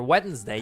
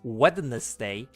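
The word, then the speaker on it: Wednesday: So for weddings day, you don't say weddness day even though there's a ne there. You say like wedding. It's like weddings day. Weddings day.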